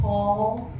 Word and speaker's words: Pawl: The older cat, his name is RuPaul, but Paul is spelled Pawl, like Paul.